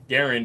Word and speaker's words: Garand: awesome dude M1 Garand Garand is actually the correct pronunciation are awesome dude good